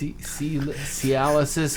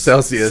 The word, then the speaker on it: Celsius: bastards did you guys say sorry Jesus Christ cisis how do you say that energy drink Celsius Celsius Celsius seis is something that makes your penis